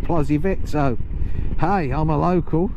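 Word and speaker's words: Plozévet: Oh my god, that Plozzivet, they pronounce it Vay instead of vet. Plozzivet. But the locals always pronounce it Plozzivet.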